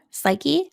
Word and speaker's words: psyche: N that's right and which constant is pronounced in the PS sound spelling pattern psyche pseudonym psychologist we only hear we only pronounce the s in that nice work let's